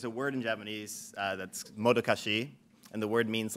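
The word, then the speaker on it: modocache: So it's modokashi. Some people pronounce it modokash. I'm fine with that.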